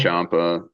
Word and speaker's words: Ciampa: Champa. Tommaso Ciampa is how they've always Champa. kind of said it. Champa.